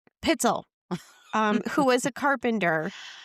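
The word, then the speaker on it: Pitezel: Pel, I would have butchered it and said Pitell. Pitzell.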